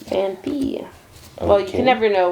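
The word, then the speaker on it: Phanpy: Cuz a lot of people say FanFi, but there is no PH. There's no PH. And it's Fan P. Fan P.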